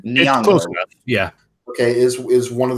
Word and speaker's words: Nyong'o: Is that how you pronounce her last name? Nyong'o.